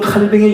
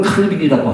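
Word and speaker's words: Calvin: 자, 미군호는 칼뱅의 영향을 받은, 우리 영어로는 칼빈이라고 하지만 이분이 프랑스 사람이니까 프랑스식으로 발음한다면 장 칼뱅을 그렇게 얘기합니다. 자, 16세기에서 18세기 프랑스 개신교 성도들을 일컫는 말이 위그노입니다.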